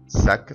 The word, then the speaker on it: sac: قلنا قبل كده ان اخر حرف ساكن في اللغه الفرنسيه لا ينطق، بس في كلمه sac تنطق للاخر. sac ما نقولش سا غلط لما نقول sac.